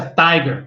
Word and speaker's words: TIGR: sigla em inglês e se pronuncia tiger como se fosse tigre e a entrar ele